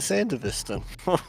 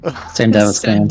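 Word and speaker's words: Sandevistan: board and then use the biomold and buy the Sandavist. You're just saying it wrong. Motherfucker. How do you say it? Sandavastan. Sandavastan.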